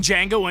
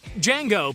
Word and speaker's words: Django: to spell it out Django played by Jamie Foxx does as the man asks and upon spelling it out he tells the man that the D is silent the man responds to